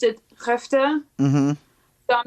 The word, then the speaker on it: Skövde: And after our show in Skövde, it's spelled completely differently, but I remember he pronounced it Skövde.